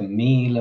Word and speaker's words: míle: So if you're watching, Gurb Mila Mahagut is how you say it.